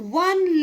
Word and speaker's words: one: are using a similarly sometimes our o makes the sound of a w like oh one legged man so yeah